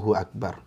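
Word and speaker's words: الله أكبر: al-qur'an Enggak boleh nah lebih bagus lagi bunyi a-nya jelas Allahu akbar Allahu akbar Nah itu akan lebih bagus karena secara bacaan Hamzah ini kalau di fathah itu bunyinya a gitu ya bukan Wa jangan jadi wawu jangan Hu Akbar Allahu Akbar wa wa enggak boleh ya ya yang baru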